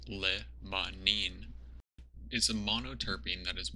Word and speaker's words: limonene: terpene responsible for this limonene actually pronounced Lebanon is a monoterpene that